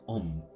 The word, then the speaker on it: Om: Y esta palabra se conoce en el hinduismo como Om, que se escribe Aum, y es el acróstico de tres palabras, Akara, Ukara y Makara, que significa vibración creativa, vibración preservadora y vibración destructora.